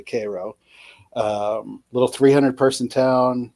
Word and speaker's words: Cairo: It's spelled like Cairo. Um, so you only know if you know that it's actually Cairo.